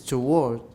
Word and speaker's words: toward: In British, it is toward, 没有错. Toward, 那是英式, 美式是 toward. Everyone, toward. Toward, no W. Toward. No W at all, 没有 W.